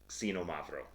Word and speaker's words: Xinomavro: It starts with an X, but it's pronounced like Ksee, Xinomavro.